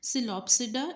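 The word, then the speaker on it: Psilopsida: सो the first one इज सिलोप्सिडा, इसमें P silent है, लाइकोप्सिडा, स्फिनोप्सिडा एंड टीरोप्सिडा.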